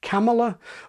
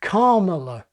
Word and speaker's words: Kamala: rather than decreasingly famous, I think most British journalists will settle on Kamala or the non-trisyllabic shortened Carmela. After all, if you say it quickly enough, karma comes out sounding more or less right anyway.